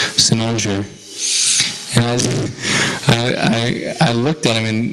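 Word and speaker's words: cynosure: I was saying like Sai-na, Kai, Kaina, and then my Gurudev just says Cynnosure.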